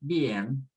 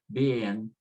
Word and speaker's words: bien: So for example, the word bien, the E is a strong, the I of course is weak. So you just say bien, bien.